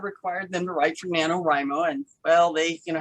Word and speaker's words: NaNoWriMo: please please pronounce it i say nanowrimo nano nano yes nanowrimo i i keep calling it neto rhymo if you read the